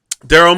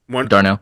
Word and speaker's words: Darnell: Jr on the other you still got um Daryl Mooney if I pronounce his name right Darnell thank you thank you and and and the